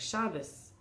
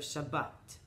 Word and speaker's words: Shabbat: speakers as a ta, and the final letter is expressed by usually English speakers or speakers of Yiddish as a s, like Shabbos. Instead of Shabbat, different pronunciation for the record.